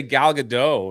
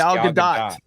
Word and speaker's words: Gal Gadot: But Gal, I used to say Gal Gadot, and then people were like, no, it's Gal Gadot. Yeah. It's Gadot. I don't care what she says or Ryan. It's Gal Gadot.